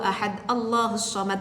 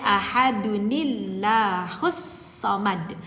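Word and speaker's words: أَحَدٌ ٱللَّهُ ٱلصَّمَدُ: Qul huwallahu ahad Allahus samad lam yalid wa lam yulad. Itu salah. Jadi kalau mau diwasolkan bacanya Qul huwallahu ahadunillahus samad.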